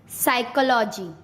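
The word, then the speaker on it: psychology: पी कब silent होता है? जब एस से पहले पी आता है तब पी साइलेंट हो जाता है। किससे पहले? एस से पहले। जैसे साइकोलॉजी, साइकेस्ट्रिस्ट, साइकोथेरेपी, एस से पहले पी, साइकोथेरेपी।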